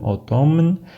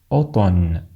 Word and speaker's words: automne: لا ننطق M في كلمة الخريف باللغة الفرنسية، لا نقول automne بل نقول automne.